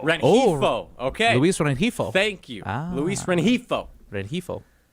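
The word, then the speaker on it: Luis Rengifo: So the pronunciation is Luis Renifo. Renifo. Okay. Luis Renifo.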